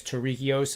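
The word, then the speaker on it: Tariqious: it's uh teuricus t-a-r-i-q-i-o-u-s so to me that's terrice i hope i'm respectfully saying that his last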